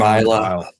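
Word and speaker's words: Islay: it's good stuff it's um from the from Isla right in uh in Scotland it's from Iowa I'm told it's Iowa but I've been pronouncing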